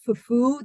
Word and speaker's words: fufu: And again, that some of the times you can hear in West African languages, fufu, the accent is on the U part. So there's in a lot of West African languages, there's an accent. If there's a multi-syllable word, the accent is on the end of the word.